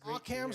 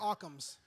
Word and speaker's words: Occam's: that is awesome that's cams or Occam's I've heard it pronounced both ways but anyway he was